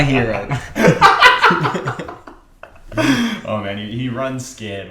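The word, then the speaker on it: Herro: But it rhymes with zero. It's Tyler Hero.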